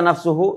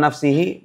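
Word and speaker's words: نفسُهُ: Kenapa dibaca nafsuhu? Ini nih yang dimaksud taukid tu ini nih. Karena ini dibacanya u. Kenapa dibaca u? Bukan nafsihi bukan nafsahu. Kenapa? Karena muakadnya juga mar marfu.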